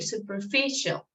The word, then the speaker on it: superficial: word superficial yes superficial so the the stress is here superficial and self-discipline all right